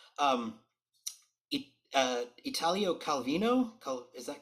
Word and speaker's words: Italo Calvino: your interests are and i'm gonna try to pronounce everything correctly um uh italio calvino is that correct yeah last name calvino yeah italo calvino is uh yeah he's in it he was